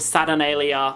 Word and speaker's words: Saturnalia: a li a Saturnalia oh okay so it's actually called Saturnalia which actually slips off